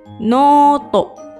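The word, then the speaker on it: ノート: Ditulis dengan huruf katakana menggunakan huruf no, strip, to, noto.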